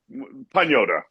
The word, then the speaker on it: Pagnotta: It's Pagnota. Am I pronouncing it correctly? Uh, it's close. It's It's pota. Pñota. Okay. So, it's the more Italian blending of the G and the N.